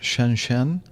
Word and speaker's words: Shenzhen: I don't speak Chinese, so I think that it's pronounced Shenzhen.